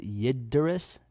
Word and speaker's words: Yggdrasil: I don't even know how to pronounce this. What is this? Yggdrasil, the world tree.